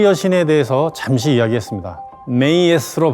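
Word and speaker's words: Maat: 여신들에게 합니다 지난 시간에 마트 여신에 대해서 잠시 이야기했습니다 메이로 발음하는 마트 여신은 우주의 균형과 질서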